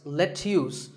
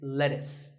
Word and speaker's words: lettuce: lettuce I know the spelling looks like it's luse but it's not it's lettuce and since we're talking